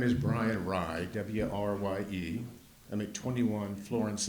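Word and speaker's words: Wrye: Make sure you spell it. Be more than happy. My name is Brian Rye, W-R-Y-E.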